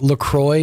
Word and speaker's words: La Croix: Okay, so there's this whole controversy online that LaCroix is not called LaCroix.